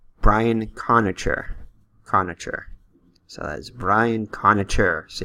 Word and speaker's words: Conacher: Conache? Anyway, Brian Conache. Alright, I looked it up. It's Brian Conacher.